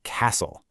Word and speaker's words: castle: Take the word castle. You don't say the T, right?